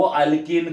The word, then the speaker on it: alkene: उसका प्रोनाउंसिएशन देखो, अल्केन, अल्कीन, अल्काइन.